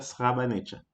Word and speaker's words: Srebrenica: E se pronuncia Srebrenica.